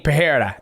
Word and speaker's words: Pereira: __ ] wrong so each time I hear Dana White say it I'm like he's saying Pera that's how I hear say don't ever use Dana White